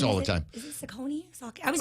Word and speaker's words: Saucony: Is it Saucony? I was pronouncing it wrong. Yeah, Saucony.